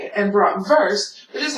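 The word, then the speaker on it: Bratwurst: letters such as w w is pronounced with a V sound let's take brought worse which is how most Americans would say it and BR verse which is how Germans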